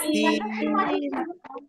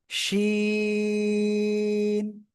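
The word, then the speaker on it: شين: দেখেন, আপনাদের ভিতরে একজন কিন্তু উচ্চারণ করতেছেন সিন, আপনাদের ভিতরে একজন উচ্চারণ করতেছেন সিন, সিন না, শ্বাসের শব্দ উচ্চারণ হবে, না হলে হবে না। শিন, ঠিক আছে?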